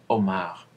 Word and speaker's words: homard: Je m'appelle Omar. C'est la même prononciation, homard.